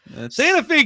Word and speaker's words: Santa Fe: Santa Fe kind of throws me for a loop, man. Like I'm sorry. Just put an extra E on it. If you want it to be Santa Fe, put another E. Like that's that's what it is. I I English language, like one E is not an an E sound, right? It's not a long E.